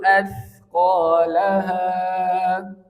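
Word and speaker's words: أثقالها: Kemudian wa akhrajatil ardu athqalaha. Wa akhrajatil ardu athqalaha. Asqa atau athqa? Yang pertama atau yang kedua? Yang pertama asqa, yang kedua athqa.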